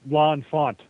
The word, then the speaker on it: L'Enfant: maybe I'm going to pronounce this man's name wrong. Is it L'Enfant? Is he the city planner? L'Enfant.